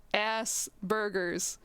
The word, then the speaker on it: Asperger's: just post the word ass burgers to make fun of how it sounds and i'm like thank you yes that is how it is pronounced at least in the u.s but it's like very